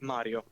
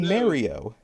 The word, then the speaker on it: Mario: correct pronunciation uh like if you want to be accurate yeah not even Charles martinet actually says the the very North American R part of it he goes for more Mario that is that's really